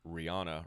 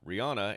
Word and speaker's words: Rihanna: of like you remember everyone's been calling rihanna rihanna and she pronounced her name rihanna it's kind of the